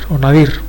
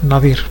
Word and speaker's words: nadir: que como se llama nadir, si lo pronunciamos con acento en la última sílaba, nadir.